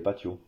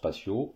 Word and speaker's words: patio: patio c'est un patio le T se prononce t en espagnol voilà aussi aussi surprenant